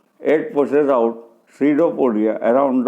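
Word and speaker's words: pseudopodia: कुछ प्रोजेक्शन निकालता है, कॉल्ड पैसिडोपोडिया, जिन्हें सीडोपोडिया कहते हैं। पी यहाँ साइलेंट है।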